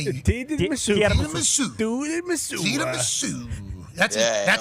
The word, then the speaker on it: tiramisu: Yeah, dude, I saw talking about tiramisu.